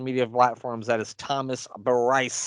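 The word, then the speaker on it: Brice: That is Thomas Bryce. That's spelled just like it sounds. B Rice. Thomas B. Rice.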